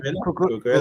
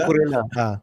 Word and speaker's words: Cucurella: The most recent to leave is how do you pronounce it? Cucurella. Cucurella. Cucurella. Cucurella.